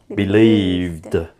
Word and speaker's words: believed: T believe the yeah because V is a voiced consonant sound yeah so Ed sounds like du believed oh how about this one